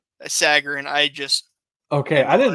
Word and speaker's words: Sagarin: Is this Sargarin? Sagarin.